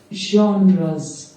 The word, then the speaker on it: genres: Genres. ठीक है। इसका जो नॉर्मल प्रोनाउंसिएशन है वो यॉनर है या जॉनर है, ठीक है।